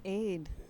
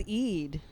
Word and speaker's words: Eid: it was juneth what's aid aid the end of Ramadan I thought it was Eid it's Aid okay no he's a he's doing an Egyptian pronunciation you're doing a Syrian I am yeah classic